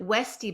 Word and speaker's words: Weuste: And Yeah, and and you pronounce it Westy, but it's spelled really interesting.